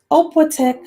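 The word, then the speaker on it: opłatek: a ritual called sharing the oppotec which is pronounced the opletic which is pronounced oppo-tech was a very thin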